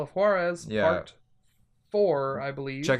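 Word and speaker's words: Juárez: of juarez yeah juarez i should i pronounce that with like the hard wh or just it should be ha because it's a j huh so juarez yeah yeah i'll go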